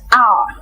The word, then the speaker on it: hour: An hour, an honest man, etc. The claim in the last two examples is that the H is not pronounced in those words.